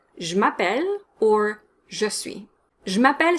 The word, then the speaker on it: m'appelle: french sounds are ignored the a in je m'appelle needs to be a strong r it's not a sound it's ma pel you know how in